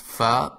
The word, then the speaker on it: فاء: slide we covered the fa which is I think very easy for you to pronounce because you have it in English and it is pronounced fa like in the word feather in the beginning the